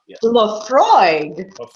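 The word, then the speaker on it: Laphroaig: Lafroig.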